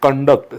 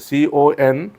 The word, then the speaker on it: conduct: Next word is conduct, CONDUCT. Conduct, this word also has two pronunciations. As a noun, it is conduct. What is the, as a noun it is as a conduct, and as a verb it is as a conduct.